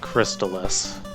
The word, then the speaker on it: Crystalis: the crystallis stage yes I'm pronouncing it crystallis force Tallis as some other people call it yeah this is another